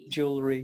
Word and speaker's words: jewelry: Sometimes there are some syllables which will be dropped, and this is one of them. Right. Jewelry, yep. So you don't even have to make that weird W.